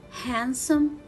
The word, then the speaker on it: handsome: this word so let's read the words with silent letter d again wednesday handsome and sandwich so here let's read them again